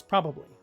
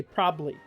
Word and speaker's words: probably: I like to say the two B's probably okay and I say it you know oh yeah this would probably be a big situation here um and that can be hard for people to pronounce who are not used type of sound uh whereas if I did remove it I'd say probably so p-r-o-b-l-y let's see what he